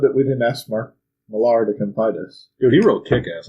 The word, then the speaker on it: Millar: it's because I've heard it both ways mark millar or Miller you are welcome to come onto the podcast and correct us because we would love to find out please I loved that we didn't ask mark millar the competitors he wrote kick-ass I'm not sure